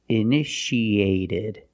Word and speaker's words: initiated: in the past initiated the second T is between vowels so we pronounce it like a fast D eded initiated initiated it means started